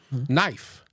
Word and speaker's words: knife: Knife. What is silent?